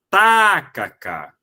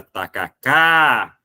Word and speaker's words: tacacá: Quando eu falo, se eu falar tacacá, prolongando a antepenúltima sílaba, a sonoridade não vai bater com o original. Tacaca também não será. Agora, tacacá, opa, show de bola.